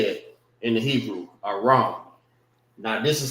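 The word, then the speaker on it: ארם: And this is how you say it in the Hebrew, Aram.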